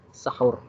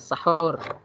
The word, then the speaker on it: sahur: sahur ya tetap usahakan sahur pengucapannya pun juga harus pas saya sahor bukan sahur ya kalau sahur pakai Hai itu artinya begadang kalau Sahrul Ngesrep hurry